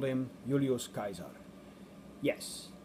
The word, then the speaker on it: Caesar: have called him Julius Kaiser yes the C is pronounced as a k and so we get